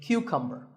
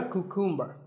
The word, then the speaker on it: cucumber: now this is a cucumber it's not a cuckoo mer think of it like saying the letter